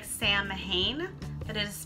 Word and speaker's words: Samhain: Samhain, spelled S-A-M-H-A-I-N, looks like Samhain, but it is pronounced Samhain.